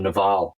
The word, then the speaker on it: Naval: Well, I learned from Naval Ravikant that, or Naval is how you pronounce his first name, I think, that an oversubscribed or an overscheduled life is no life at all.